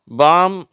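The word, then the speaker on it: palm: என்ன உச்சரிப்போடு வருதுன்னு பார்ப்போம் காம் பாம் எல் ஃபில் இந்த ரெண்டு வார்த்தையில எல் வந்து சைலெண்ட் ஆயிடுது ஓகேவா இந்த வார்த்தைகளை உச்சரிக்கப்படுகிறது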